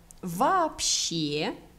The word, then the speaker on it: вообще: Il n'y a que des mots вообще avec accent tonique sur la dernière syllabe.